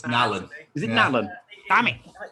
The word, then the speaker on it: Nallon: It's like an Allen. So you say Allen with an N in the front.